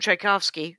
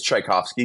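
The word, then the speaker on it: Czajkowski: like uh CZ versus instead of THC it's CZ but it's pronounced the same and he I guess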